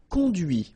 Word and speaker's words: conduit: And that's when you hear the difference between conduit, because remember, final T is not pronounced, conduit, here, and then the feminine, conduite.